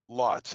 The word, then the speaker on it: Lotz: MZ, did you say Lutz or Lots? Lotz, Lotz.